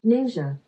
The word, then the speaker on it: NingXia: that i'm pronouncing right i googled the pronunciation ninja ninja first let me give